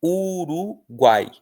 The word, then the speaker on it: Uruguai: É o caso de uruguai. Uruguai. Uruguai é pronunciado tudo junto. Você não fala Uruguai, né, nem uruguai. Você fala Uruguai. Então o guai é tudo junto, é um tritongo.